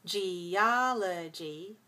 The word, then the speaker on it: geology: The stress shifts from geology, geology, four syllables, stress the second.